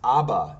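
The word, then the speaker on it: אבא: bet Al okay and notice they have the a the vowel underneath a The Vow underneath the dash with a t like which is an a sound so ABA and the alive itself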